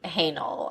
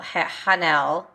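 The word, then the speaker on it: Haenel: noi merlon and Adele you have too many vowels in your last name hanel hanel and it was written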